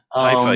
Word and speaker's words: Haifa: I always pronounce them wrong, but Haifa. Haifa, yeah, you got it right.